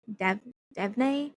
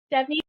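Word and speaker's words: Devney: Um, and then my pick is Shield of Sparrows um by I always pronounce um the author's name wrong. I always say Devon Dev Dev Perry. Debbie Perry.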